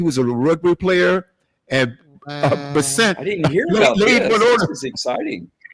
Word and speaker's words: Scott Bessent: I think that's how you pronounce his name. Bessent.